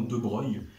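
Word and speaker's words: de Broglie: tu as du lambda de Brey qui s'écrit de Brogli d'ailleurs mais c'est bien de Breil et puis voilà puis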